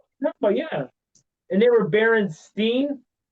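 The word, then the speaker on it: Berenstain: Actually, you don't really It's Baron Stain. Oh, Jewish. It's what? She said they were Jewish. It's German. No, no, it's Baron Stain.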